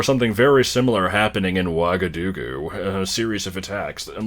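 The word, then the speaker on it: Ouagadougou: So Lockhart mentions it's pronounced Wagadugu, but it's spelled fucking terribly.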